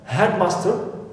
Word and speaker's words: headmaster: I have headmaster, so here it is our first exception. So here I should what? Stress master, not head, because it is an exception.